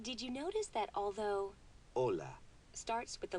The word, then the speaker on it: hola: you notice that although Ola starts with the letter H it is not pronounced the letter H is always silent in Spanish the basic course is